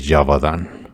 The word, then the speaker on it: Gévaudan: nombre la bestia de jabadán y se escribe geovan Pero se escucha bien perro llamado la bestia